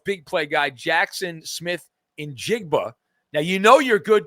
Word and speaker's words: Njigba: So Seattle's big play guy, Jackson Smith in Jigba.